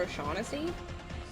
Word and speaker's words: O'Shaughnessy: Go down to Mr. O'Shag Hennessy's office. You mean Mr. O'Shaughnessy?